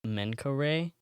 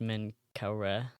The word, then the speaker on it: Menkaure: There's one Like, that there's one that's like more well known, and they literally wrote the drunkards of Menkaure, or it's pronounced Menkaure, either way.